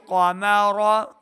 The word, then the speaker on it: قمر: ساتھ پڑھنا ہے۔ وجعل قمر قمر قاف حروف مستعلیہ سے موٹی آواز کے ساتھ پڑھنا ہے، را کو بھی یہاں پہ ہم نے پر پڑھنا ہے، را کے اوپر زبر